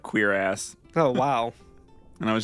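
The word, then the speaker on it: cuirass: not what i thought according to google it's just straight up queer ass oh wow and i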